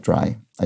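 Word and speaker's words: drei: the german word d-r-e-i-43 is a homophone of dry i and ben ward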